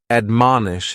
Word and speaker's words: admonish: The first word is to admonish. And admonish has three syllables and the stress is on that second syllable.